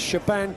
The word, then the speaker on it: Shebahn: Up next, it is Shebahn Calm Hand Aherne versus Jamie the Chunk O'Hara.